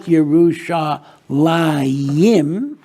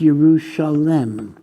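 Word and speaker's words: Yerushalayim: have that second J it's not jusa liim but it's yerusalem what is the significance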